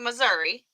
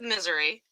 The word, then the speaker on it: Missouri: Like, some people call it Missouri. Some people call it Misery. And some people call it, Missouri.